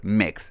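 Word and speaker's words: Mx: pornographics and their pornographics is mix pronounced like mix Remy is admitted to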